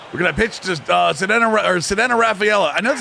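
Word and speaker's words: Ceddanne Rafaela: We're going to pitch to Sedena Rafaela. I know that's how you pronounce his name.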